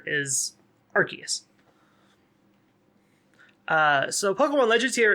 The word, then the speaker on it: Arceus: to know that that one of the hardest names to pronounce in the game that everyone always fights over is arceus uh so pokemon legends